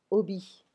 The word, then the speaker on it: hobby: un must, plutôt qu'un hobby. And I'm not pronouncing the H because it's French.